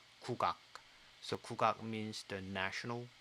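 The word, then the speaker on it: 국악: In Korean, this is pronounced Kukoc.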